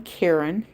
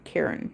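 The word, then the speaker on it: Caron: And there's a guy by the name of Don Karen. It's spelled C A R O N. Karen.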